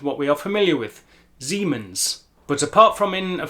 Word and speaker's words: Siemens: You will notice the S at the beginning of the word is pronounced more in line with an English Z or Z. Siemens and not Siemens.